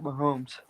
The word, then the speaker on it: Mahomes: Patrick Mahomes.